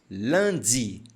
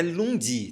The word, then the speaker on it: lundi: no Landi no sam Landi no Landi não é Lundi tá Landi e observe que também nós não falamos Landi Landi é Land olha só a pronúncia do I Land hoje é segunda-feira e se